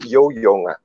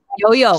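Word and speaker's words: 游泳: Yo-yong. Yo-yong.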